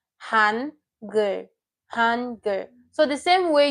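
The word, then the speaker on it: 한글: This is Han and Gur. Han, Gur. Hangul. This is a two-syllable word. Hangul.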